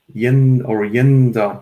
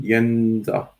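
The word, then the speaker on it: Jędza: So not Jedza, but Jedza. Yenza, just to make it easier. Just think of the name Yennefer from Witcher universe. Use the first syllable.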